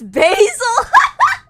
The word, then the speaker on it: basil: Basil is more like Brazil minus the R.